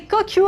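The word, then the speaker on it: Cocue: Au féminin, C-O-C-U-E, pas de faute d'orthographe, prononcé Kokyu à la japonaise.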